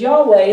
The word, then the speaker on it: Yahweh: they have known his name for years it's Yahweh we pronounce it Jehovah a better interpretation is Yahweh that means that I am the ever existing